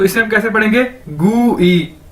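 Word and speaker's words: 贵: अगर इसके साथ आई लग गया तो इसे हम कैसे पढ़ेंगे गू ई, ठीक है, GY गू ई, गू ई नहीं, एग्जैक्ट ई नहीं कहना, गू ई, ठीक है।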